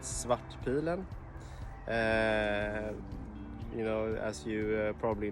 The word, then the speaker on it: Svartpilen: krona 401 swat pylon swat pillow in swedish means the black arrow and you pronounce it swat pilen you know as you